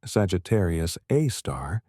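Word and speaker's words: Sagittarius A*: The super massive black hole at the Milky Way's center called Sagittarius, a star, pronounced Sagittarius, a star, contains approximately 4.3 million solar masses within an event horizon roughly 12 million miles in diameter.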